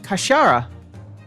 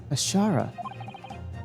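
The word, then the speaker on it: 頭: It's pronounced Kashara, I believe. Kashara.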